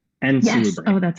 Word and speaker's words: Salubri: So it's the Banu Hakim and Salubri. Oh, that's how you say it. And Salubri, yes.